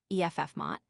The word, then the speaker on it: FMOT: It recently created a position entitled director of first moment of truth or director of FMOT, pronounced EFF Mott, to produce sharper, flashier instore displays.